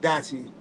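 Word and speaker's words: DYCHI: Let me bring back Dachi. Dachi is spelled D-Y-C-H-I.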